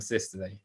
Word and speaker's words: systole: say diastole and systole it should be pronounced diastole and systole okay so which of